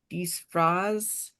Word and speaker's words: disfraz: number 4, it said I used a word for costume, mi pongo el disfraz.